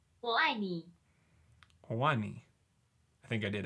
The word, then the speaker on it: 我爱你: It's pronounced 我爱你.